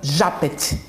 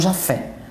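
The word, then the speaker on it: Japhet: Chico corrigiu a pronúncia por se tratar de uma jovem judia e Chico dizia aos amigos de Pedro Leopoldo que ela se chamava Japet e não Jafé.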